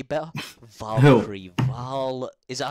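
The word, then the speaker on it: Valkyrae: Valkyrie. Is that how you say it? Valkyrie? Yeah, Valkyrie.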